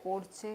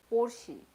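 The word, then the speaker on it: Porsche: अगर एक name suggest करना है तो ऐसे पोर्चे का नाम बताओ। पोर्चे पोर्चे कार, मैं प्रोनाउंस ठीक कर रही हूँ कि नहीं?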